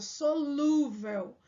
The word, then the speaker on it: solúvel: ter o assento solúvel Olha a pronúncia solúvel né solúvel tá faltando aqui ó o assento porque é uma paroxítona terminada em L Então eu preciso acentuar